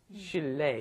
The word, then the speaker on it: 실례: Anyway, and notice the pronunciation here. It looks like it should be 실례, which is almost impossible to pronounce, isn't it? Yeah. How do you say 실례? Because the vowel is yeah. But what happens is, of course, it just ends up being pronounced 실례, 실례, 실례합니다, 실례입니다.